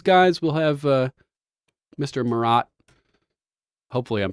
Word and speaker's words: Morott: too far away oh you're perfect good stuff morat am I pronouncing that correctly yes all right Mr